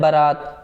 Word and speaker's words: बारात: होती, कन्फ्यूजन होता है जो बारात शब्द है। कहीं जगह इसे बारात कहा जाता है तो कहीं जगह इसे बारात कहा जाता है, जबकि इसका जो शुद्ध उच्चारण होता है वो होता है बारात।